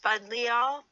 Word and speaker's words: Buddleia: Many butterfly gardeners plan their garden around Buddleia, pronounced Budleia, a genus that includes over 100 species and cultivars, also called summer lilac.